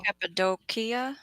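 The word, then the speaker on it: Cappadocia: find it oh that you pronounce the second C like a k oh capid doia Capia capadia wild so both of them are are a hard sea yeah capid doia oh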